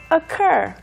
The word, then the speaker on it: occur: Today's keyword is occur. Urcur funny word. 네. OCC인데요. 발음이 아니고요. ur입니다. 네. Ur인데 어 발음으로 시작을 합니다.